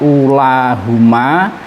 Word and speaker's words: أُولَاهُمَا: Ya, nanti kalau kita kebetulan menemukan mushaf yang tanpa harokat, tanpa ada sukunnya, maka bisa diingat bahwa lafadz ulahuma itu wawunya tetap dibaca, artinya dhammahnya tetap dibaca panjang.